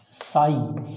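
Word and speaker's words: psi: जल विभव, जल विभव साई या साई डब्ल्यू, ये इसको प्रदर्शित करने का तरीका है बेटा। इसको ना हिंदी में साई बोलते हैं, इसमें पी साइलेंट होता है।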